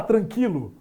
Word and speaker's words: tranquilo: não tem mais o trema Mas eu continuo pronunciando com o seu existe isso né eu vou falar tranquilo ai tá tranquilo tá tranquilo continua com essa